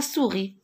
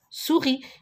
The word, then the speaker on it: souris: muette comme par exemple la souris regardez la souris je dois pas prononcé le s nord je l'écris